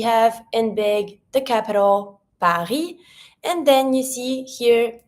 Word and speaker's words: Paris: To say Paris, we say Paris. Paris. And when we say Paris, we don't pronounce the S.